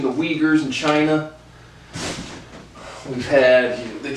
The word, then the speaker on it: Uyghurs: We got the, correct pronunciation, the Uyghurs in China.